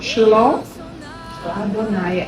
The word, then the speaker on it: Shalom Adonai: A pronúncia de Shalom muda. Então, se eu quero dizer paz do Senhor, eu não falo Shalom Adonai, eu falo Shalom Adonai. Shalom é como se estivesse suprimindo o A.